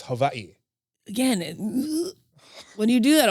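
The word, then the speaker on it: Hawaiʻi: is the line because that's like technically we're mispronouncing it it's not Hawaii it's Havi again when you do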